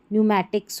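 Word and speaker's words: pneumatics: निमोनिया हो गया, न्यूमैटिक हो गया, न्यूमैटिक्स हो गया, ठीक है, यहाँ पर पी एन से शुरू है। कुछ ही स्पेलिंग्स है जो हमारी पी एस वाली है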